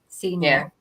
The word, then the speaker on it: Signac: the map there, because that's exactly how you pronounce that. Signac.